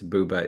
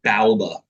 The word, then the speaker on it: Booba: Everybody was saying after watching this episode, oh, that's how you pronounce Booba. Is there another pronunciation? I've I only ever have heard people have one. told me Bauba before. They're wrong. They unequivocally. Wow. Unequivocally wrong. Yeah.